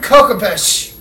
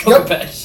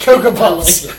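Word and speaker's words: Khopesh: Hold Kokopesh. That's how it's pronounced. Kokopesh. Kokopuffs.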